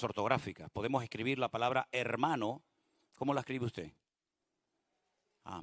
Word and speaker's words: hermano: va con h entonces la puede escribir con h o sin h se pronuncia Exactamente igual pero es cuestión ortográfica